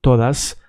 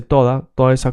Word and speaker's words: todas: because it should be todas, but in Puerto Rico they eat the S, so they say toda esa cosa. So basically it's written as it's pronounced, but it should be an S.